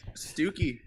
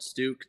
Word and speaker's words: Stuke: But no, honestly, Stuki. I like it. It's like such a common mispronunciation that people call it Stuke, to where even people who know I'm Stuki still call me Stuke.